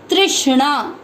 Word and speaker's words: तृष्णा: दूसरा चरण, त के नीचे री से ऋषि की मात्रा, इसको आप इधर देखेंगे, ये है त आधा और नीचे जो मात्रा है ये है री से ऋषि की मात्रा। इसको पढ़ेंगे त्रि, त्रि आधा श, त्रिश। श षटकोण वाला है, इसको थोड़ा सा जोर देके पढ़ना पड़ेगा। तृष्णा।